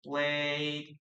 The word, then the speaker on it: played: Guys, don't pronounce the letter E, please.